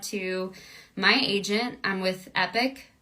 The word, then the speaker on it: Epoch: my agent I'm with epic spelled like Epoch but pronounced epic e-p-o-c-h that's my agent